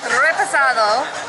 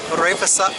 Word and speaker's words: reposado: No, But it's not the rolling the R, it's the E sound. It's repasado.